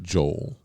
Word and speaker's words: Joel: It's pronounced Joel.